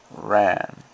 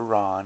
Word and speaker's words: Ran: I will now resume with Akira Kurosawa's Ran, or Ron as it's supposed to be pronounced.